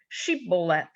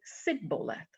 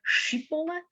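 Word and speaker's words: shibboleth: to the aphromite say the word sheep bowlet but the aphromites could not say the word instead they pronounced it sigbolet can you sound can you can you hear the difference sheeplet and sibolet so poor aphromites would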